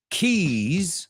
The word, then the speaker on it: keys: Please don't mix up keys, llaves, with kiss. Dilo conmigo, keys. Esa es fácil. Pero es una Z, no es una S, aunque tenga una S.